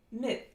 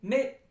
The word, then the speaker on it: mit: this next vowel is a near high near front unrounded short lax vowel and it looks like